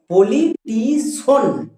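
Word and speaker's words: politician: উচ্চারণ করবেযেমন বলবে পলিটিশিয়ান magician না আমরা এরকম উচ্চারণ করব না আমরা কি বলব পলিটিশন ম্যাজিন এর জন্য সন হবে আমরা উচ্চারণ করব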